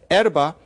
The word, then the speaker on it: erva: For those of you who know Spanish, you think about the fact that there's that pronunciation of b as v in many Spanish dialects. That's not an accident. So, erva, in Portuguese, it's erva.